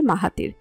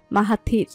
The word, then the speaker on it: মাহাথির: অন্য সবাই উচ্চারণ করে মাহাতির, অথচ সে মাহাতির নামটিকে খানিকটা সময় নিয়ে বড্ড যত্ন করে উচ্চারণ করে মাহাথির। মাঝের আকারটা হালকা শোনায়।